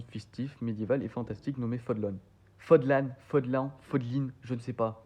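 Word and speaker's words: Fódlan: dans un monde fictif, médiéval et fantastique nommé Fodlan. Fodlin, je ne sais pas, mais au moins ça se dit Fodlan pour moi, parce que je crois qu'ils le disent dans le jeu, ça se dit Fodlan.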